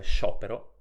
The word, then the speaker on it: sciopero: legge ciò pensiamo in questo caso alle parole sciopero e risciò SC iu come immaginerai si legge evidentemente Shu come nelle parole prosciutto e